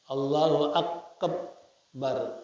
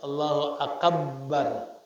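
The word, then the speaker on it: الله أكبر: dia tidak tasdidkan bnya jikalau ditasdidkan bnya Allahu bar allahu akbar allahu akabbar diucapkan Allahu akabbar lamanat engakah salatnya Jadi mesti Allahu akbar jangan ditasdidin kalau diucapkan Allahu akbar enggak sah salat attasiu Alla yazida Wawan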